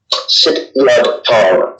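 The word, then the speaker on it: Sityodtong: Yeah, how did you come to, I don't think I ever pronounced it correctly, but Sit Yodong? Sit Yodong.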